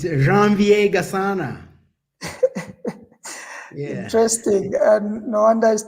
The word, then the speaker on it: Janvier Gasana: Try to pronounce your name for us. It's Janvier Gasana.